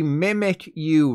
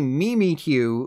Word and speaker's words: Mimikyu: Pikachu which means it should be mimic you right by now you should know that's not the case it's actually mimikyu like meme me from The Drew Terry show I'm telling you right